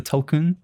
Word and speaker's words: Tulkun: Again, apologies if you're listening, James, because I'm going to mispronounce this. The Tulkun, I believe.